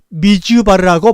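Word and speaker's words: מדבר: 이것이 바로 거수 말씀입니다 그 다 바른 단어 앞에 내 미라 고 하는 말씀을 탄에 히 부려 알파벳을 비추게 되면 미주 바르라고 발음합니다 미주 바로 이미지 발해가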